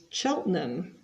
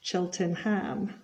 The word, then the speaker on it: Cheltenham: before the final whistle so it's reading not reading and Cheltenham not Cheltenham half time so this